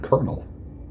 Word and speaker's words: colonel: that you're not pronouncing about the word Colonel as in military rank colonel that is a weird word isn't it can you keep a